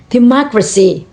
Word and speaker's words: democracy: For example, democracy, democracy. Primary on ma, secondary on last syllable c, democracy.